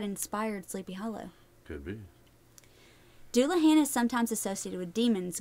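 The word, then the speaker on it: dullahan: there is the duluan dulahan I'm going to say dulahan the Irish dulahan sometimes spelled duin or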